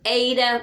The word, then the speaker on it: eta: Your eta, which actually makes a long A sound as in they, T-H-E-Y.